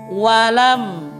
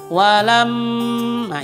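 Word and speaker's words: وَلَمْ: ada sedikit pun jatan walam walam tidak boleh dibaca walam Ma itu salah walam m salah yang benar adalah walam walam kemudian kesalahan selanjutnya yaitu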